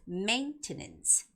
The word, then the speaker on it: maintenance: And the last word is maintenance. Maintenance, that has the first syllable stress.